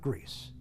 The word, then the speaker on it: Gries: Gries. That's spelled G-R-I-E-S.